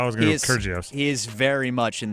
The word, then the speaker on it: Kyrgios: I'm not gonna be able to pronounce his name. Kyrgios. There you go. I was gonna go with Kyrgios.